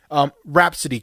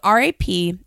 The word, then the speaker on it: Rapsittie: Rhapsody, it's not spelled like Rhapsody in blue. No. It's spelled Rapsittie.